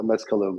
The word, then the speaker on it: Mezcalum: phonetic Spanish language, but it's Mezcal plus Tulum had a baby, so Mezcalum is how we pronounce it.